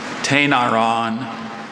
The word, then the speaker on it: Tainaron: Tainaron.